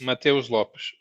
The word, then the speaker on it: Matheus Lopes: Mateus Lopes. Mateus Lopes. The H is silent.